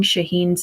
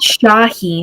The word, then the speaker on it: Shaheen: was, he kept mispronouncing Shaheen's name so much that it was annoying the crap out of me. It's not Shaheen, it's Shaheen. Like, say it the way it's meant to be said.